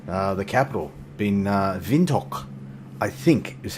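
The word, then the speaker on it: Windhoek: up into Namibia uh the capital been uh vinto I think is how you pronounce that vinto OS airport foxtrot Yankee whiskey Echo is our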